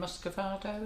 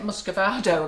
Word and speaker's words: muscovado: We use, I don't know the name, Muscovado, is that how you say it? Muscovado, yeah. Oh yeah, the brown sugar.